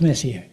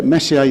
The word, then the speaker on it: Messier: Please welcome Roger to talk about Charles Messier. Thank you. Okay, I think that's us, isn't it? Yeah, that's it. Sha Messier. That's my That's my attempt to pronounce it in French.